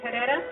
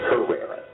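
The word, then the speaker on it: Herrera: name is her it's not pronounced the way you pronounced it I'm an American with Mexican descent and I don't go for any of that Spanish stuff being thrown at me or it's herera in Mexico you're correct in America I'm right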